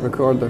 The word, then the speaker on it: Wreckorder: know before I get wrong how do you pronunciate it Rec recorder recorder recorder and where does the the name come